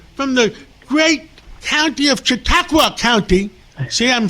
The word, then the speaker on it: Chautauqua: With us today is Senator George Borrello from the great county of Chautauqua County.